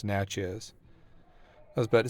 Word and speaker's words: Natchez: Natchez yeah that's what it says okay yeah pronounce Natchez I was about to say okay now it's